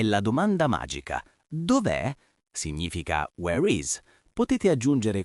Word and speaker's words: Dov'è: Ricordate la pronuncia, l'accento è sulla E finale.